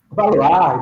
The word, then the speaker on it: Valois: Valois, it's French actually.